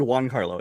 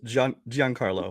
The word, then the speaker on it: Giancarlo: Yeah, is it Giancarlo Esposito? Well, it's you always said Juan Carlo. It's Giancarlo. Giancarlo.